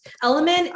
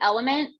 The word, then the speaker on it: LMNT: waiting until the end element is e-l-m-n-t it's l-m-n-t and you pronounce it element but it's just l-m-n-t